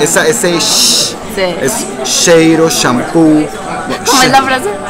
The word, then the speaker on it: cheiro: Cheiro. Entonces. Como si fuera el sonido de silencio. Cheiro. Entonces la che, que es muy pronunciada en español, en realidad en Brasil, en portugués, es che. Como shampoo, sí.